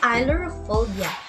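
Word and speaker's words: ailurophobia: word can you pronounce it okay it is pronounced as ilorophobia what do you mean of that look for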